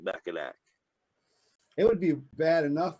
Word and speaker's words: Mackinac: or murder you know a big thing with mackinac island is the pronunciation i don't know if you can can